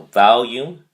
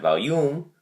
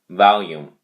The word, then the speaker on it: volume: The emphasis on the first syllable, vowel. So volume, not volume, volume.